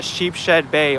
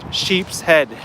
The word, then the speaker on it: Sheepshead: mentioning about Sheepshead Bay I always mispronounce it a sheep shed bay all the time and I make it just one word not two words but it's it's Sheepshead not sheep shed I don't know why